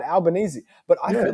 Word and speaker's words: Albanese: Oh, I don't even know Albanese. how it's fucking pronounced. Albanese. Right, Albanese.